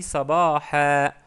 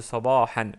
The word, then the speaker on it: صباحا: J'ai dit sabaha, sabaha au lieu de sabahan. Bien sûr, on peut dire sabahan, mais pour prononcer correctement, parce qu'on s'arrête sur le mot, on dit sabaha.